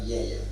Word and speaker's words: Villella: Si és la mateixa E, el que passa que ells la tanquen, nosaltres la fem molt oberta, Villella.